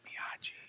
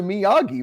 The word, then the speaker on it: Miyagi: g's that often right like the g is usually a hard g it's a miyagi right but also it doesn't